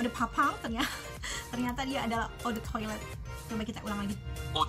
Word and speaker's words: Eau de toilette: Gimana cara pronounce EDT-nya? Eau de toilette.